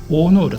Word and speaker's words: 生浦: のね湾で、生きるに浦と書いて大野浦と読むみたいで